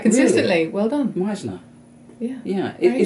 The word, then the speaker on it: Meissner: person has put it right consistently well done Meisner yeah yeah if you say of German origin